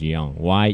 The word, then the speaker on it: Yeung: It's Young. Yeung. Okay. I heard about that. I think. He doesn't know. He says he'll answer to anything. He says young.